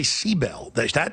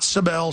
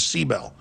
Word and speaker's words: Sibel: Edmonds, people keep saying, why do you say Seabell? She says, that's how you pronounce it. Not Sibel, she says Seabell.